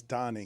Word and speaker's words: Tony: played his entire career being called Tony, even though his name is Tani? He never corrected anybody. Really? No, but that's like Milano. No. Or Roman Roma. Nope. His name is spelled Tony. Nope. It's not. It got Americanized. Okay. It's like Antanosio or something. It's Tani. It's not Tony. It's not Tony. His name is not Tony Perez.